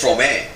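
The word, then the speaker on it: Fromme: I even know how to pronounce her name correctly. Oh. Do you? No, what is it? It's Frome.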